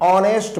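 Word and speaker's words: honest: एन ऑनेस्ट मैन, H silent हो रहा है इसलिए एन लग रहा है।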